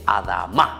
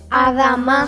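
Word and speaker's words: אדמה: Adán viene de la palabra hebrea y se dice Adamá. ¿Cómo se dice, queridos niños? Adamá.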